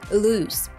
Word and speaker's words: loose: pronunciation of the word loose be sure to hold the long ooh sound and end with a soft s sound avoiding the z sound which would make it